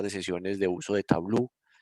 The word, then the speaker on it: Tableau: Usted puede encontrar Microsoft Power BI, puede encontrar otro que se llama Tableau, se escribe T-A-B-L-A-U, Tableau.